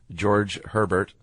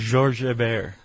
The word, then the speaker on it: Georges Hébert: A French naval officer named Lieutenant George Herbert. I don't think that's how you say his name. What would you say in French? Georges Hébert.